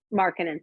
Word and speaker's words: Markkanen: Markkanen, thank you.